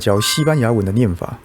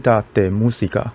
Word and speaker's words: Cajita de Música: So today Teacher Chen came to teach Spanish how to pronounce the word cajita de música and the word cajita de música In Spanish, cajita means box, música means music, so this word means music box.